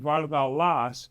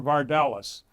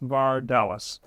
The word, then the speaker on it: Vardalas: But in Greek, it's a three-syllable name, Vardalas. In English, it's more Vardalas. So that's why I encourage people to say, when you use my last name, think of Dallas, Texas, Vardalas.